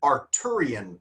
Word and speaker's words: Arthurian: Now in the United States, we pronounce it just like that, Arthuran. But in England, sometimes they don't say Arththeran. They pronounce the th just like a t. So British people might say arturan legend.